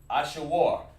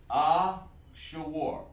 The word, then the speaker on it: Ashur: Ashur. This is how it's pronounced. Ashur.